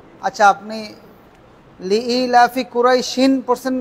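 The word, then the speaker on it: قريش: সিনের উপর থেমে যাই জজমের উচ্চারণ হবে কুরাইশ কুরাইশ কুরাইশ কুরাইশ থামলে কুরাইশ আর যদি না থামেন কুরাইশিন সামনে চলে যাবেন ইলাফিম বলে বুঝছেন সবাই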